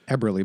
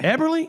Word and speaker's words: Eberly: But it's pronounced Eberly, by the way. Eberly? It's a Mennonite name.